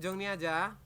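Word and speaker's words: 정리하다: Jong rada Apa itu Jong niada jongniada adalah me raapih Jong tulisannya Jong rhada dibacanya Jong niada kayak gitu ya karena kan ada I yang bertemu dengan RI maka R dibaca n Jong niata maknanya merapikan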